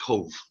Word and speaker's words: Cobh: everybody with the spelling Cobh is pronounced Cove now our exhibition deals with the story of Irish emigration from this harbour three million immigrants left from the harbor of Cove mainly from 80 there